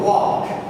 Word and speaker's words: walk: So walk. Open your mouth widely, you say it correctly.